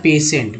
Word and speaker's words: patient: जैसे टी से ट होता है, एन से न हो गया, पी ए से दोस्तों पे हो गया, टी आई से स और ई से जो है दोस्तों ए हो गया।